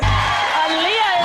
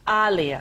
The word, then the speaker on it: Alia: said it like that aliyah is our guest am i saying your name right i am right there alia yes i say aliyah it's alia like muhammad ali i got it so